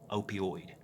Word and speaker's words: opioid: day from opioid and I looked up how to say that and I'm pretty sure I'm saying it right opioid OPI oh I D 130 American's die every